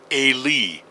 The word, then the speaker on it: Eli: Notice this is from the Hebrew, and the phonetic spelling and pronunciation is Eli, long E, not I, A, anything else. It's an E sound.